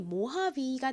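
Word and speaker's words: Mohave: a는 아 소리가 나고요 끝에 V 2는 원래 영어식으로 읽는다면 소리가 날 여기서는로 있 그래서이 차의 이름이 모하비가 되는데요이를가 아니라로 읽는 이유는이 차 이름이요 여러 가지 단어를 합성해서 만든 이름인데 여기서는 차량을 의미하는에서 따온 단어라고 합니다 v e h i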